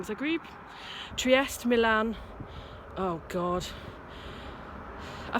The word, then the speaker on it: Zagreb: Bucharest, Zagreb, Trieste, I pronounced that wrong, Zagreb, Trieste, Milan, oh God.